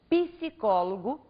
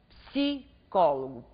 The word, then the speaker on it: psicólogo: por exemplo pronuncie advogado em vez de você pronunciar psicólogo diga psicólogo PSI faça um p mudo a prosódia trata por